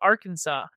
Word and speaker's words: Arkansas: fun fact was that you have to call it Arkansas people here will get on your ass if you mispronounce the state name yes people from Nevada